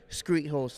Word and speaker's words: skreethost: Tock again it's s-k-r-e-e-t-h-o-s-d Street host that's how it's pronounced and screet as in street but with the K and host because I'm the host awesome well thank you